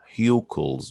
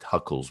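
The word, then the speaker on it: Hückel: So it's pronounced Huckel's rule, or some in the US here we can call it Huckel's rule.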